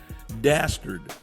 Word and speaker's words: dastard: I like it because it rhymes with bastard.